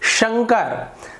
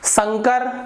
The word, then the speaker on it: शंकर: उसी प्रकार से शंकर, शंकर गलत है, शंकर सही है।